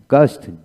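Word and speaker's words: ghost: গানাইন এখানে এইচ উচ্চ হলো না গানস গান গোস্ট জি ও এস টি গোস্ট উচ্চারণ হয় নাইলে গোস্টলে জি এইচ ডাবল ই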